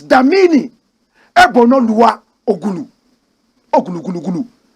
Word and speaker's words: Damini: Did you just hear me say Daniel? But it is Damini Ebunoluwa Ogulu.